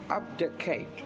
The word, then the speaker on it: abdicate: Abdicate அப்படின்னு ஒரு verb. ABDICATE. Abdicateன்னு you may tend to pronounce.